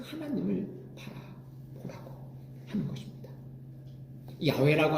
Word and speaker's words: 야훼: 야훼라고 하는 말은 히브리어를 발음나는 대로 야훼라고 적었어요. 우리나라 성경에는 여호와로 번역을 했어요.